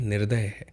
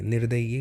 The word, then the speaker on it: निर्दय: ये वाला गलत है निर्दय निर्दय ये नहीं होता निर्दय बहुत ही निर्दय है ना तो निर्दय ही सही है निर्दई गलत है पूर्ति आप देखिए ता